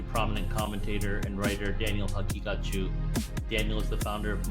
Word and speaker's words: Haqiqatjou: Haqiqatjou is generally how it's pronounced. The Q is what people have trouble with. It represents a qaf in Arabic or Farsi. So you can pronounce like a hard qaf, like Haqiqatjou, or softer Haqiqat, like more like a ghain sound. Haqiqatjou, either way.